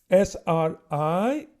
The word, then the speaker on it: Sri: before the session ends so sri sr i pronounce and when we sing it in sri s h r e e is the name of